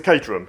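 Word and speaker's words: Caterham: we're not worried about that but it's a katerum if anyone's um from Europe and wants to know how to pronounce katerum properly.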